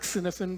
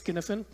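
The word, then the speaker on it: Cynefin: our topic is one known as skinifin it's pronounced skinnifin it's a Scottish word it looks like sinophen but it's skinfen and it was developed by this guy Dave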